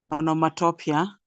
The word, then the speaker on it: onomatopoeia: Onomatopoeia. The other day, I wanted to check on the pronunciation of that word.